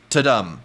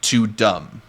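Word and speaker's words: Tudum: Thanks again for tuning in, and until next time, it's pronounced ta-dum, not too dumb.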